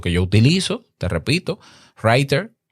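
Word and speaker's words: Rytr: Espero que este tema te haya servido, que puedas utilizar, si quieres utilizar lo que yo utilizo, te repito, Writer, se escribe R-Y-T-R, Auphonic con la inteligencia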